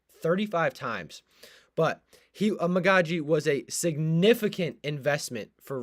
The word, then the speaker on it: Amegadjie: Amegadjie is maybe fighting for much more than a starting job.